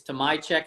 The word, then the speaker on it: Tomajczyk: correctly before you joined it's to my check for those of you who are wondering how to pronounce it um so we were